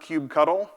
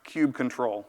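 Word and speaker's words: kubectl: the 1:9 release notes that it is not cube cuddle and he gave the canonical way to pronounce cube control so it's in the docs and so it's Canon I'd prefer to not hear cube cuddle ever again so this is how the test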